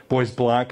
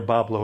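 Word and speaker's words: Bois Blanc: St Joseph Boblo Island Boys black is how they say it up there Pablo if you're down here which means white trees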